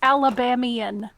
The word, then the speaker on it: Alabamian: Yeah, because I think of Alabama, so I think of Alabamian, like not Alabamian Yep.